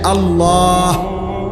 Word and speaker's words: আল্লাহ: শেষে আল্লাহ, শেষে একটা গোল হা আছে, ছোট হা। আল্লাহ মানে আল্লাহু, তো হুটারে শ্বাস ফেলাইলে হলো আল্লাহ।